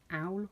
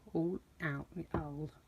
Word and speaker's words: awl: Then you're going to need, I think this is pronounced owl, owl, AWL.